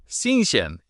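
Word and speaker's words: 新鲜: Xinxian. The X feels weird to say. It's a soft SH sound, tongue near your bottom teeth.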